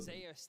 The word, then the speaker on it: Zeus: it's pronounced the way he would pronounce it. Zeus, this tournament was already hyped up to be one of the best top laners in the world, and the expectation.